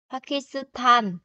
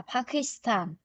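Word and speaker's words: 파키스탄: Ghi là sẽ là Pakistan, nhưng phát âm sẽ là Pakistan.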